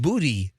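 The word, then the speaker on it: Boutte: it happened in uh booty Louisiana oh there's a booty Louisiana there is I've been there a bunch I've never seen the booty it's b-o-u-t-t-e but it's pronounced booty Louisiana as ink [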